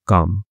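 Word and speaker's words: calm: और एक क्लेम नहीं है काम। ठीक है? काम का मतलब होता है शांत। जिसमें एल जो होता है वह साइलेंट होता है।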